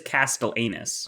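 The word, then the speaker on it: castellanus: Cloud but it is it is spelled uh c-a-s-t-e-l-l-a-n-u-s so it is Castle anus ah castellanius turkey Castle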